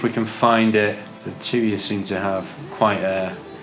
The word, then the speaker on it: Tuya: The app for this Interthings camera is called Tuya, which is spelled T-U-Y-A.